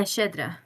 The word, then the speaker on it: Shedra: Yeah, Shedra.